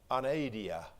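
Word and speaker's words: ἀναίδεια: We would pronounce this word anaidia. And it's really a combination word or a compound word. The A there, if you will, at the beginning suggests without or in the absence of.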